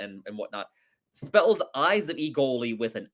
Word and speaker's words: Egoli: Egoli. I mean, I will say I sounds actually more accurate. But they say Egoli, don't I? Egoli. Egoli. Well, it's pronounced with a long E.